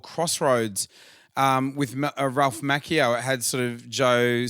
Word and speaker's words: Macchio: Two C's together in the Italian pronunciation is like a K.